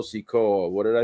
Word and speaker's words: Sikoa: it looks like solo seekoa i pronounced his name wrong earlier it's solo sikoa what did i say